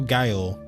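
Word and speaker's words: gaol: Is okay, it's G-A-O-L, jail? Is that jail? Or guile? I feel like it's jail. My girlfriend laughed at me so hard when I couldn't pronounce it. So it is jail.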